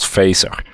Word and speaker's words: Phaser: if you use this open-source gaming framework called phaser phaser yeah face our featured on Io how do you spell it pH a ser oh okay yeah and